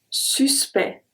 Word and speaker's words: suspect: This time we are not going to pronounce the C and the T at all. Let's see. Le suspect, suspect, le suspect.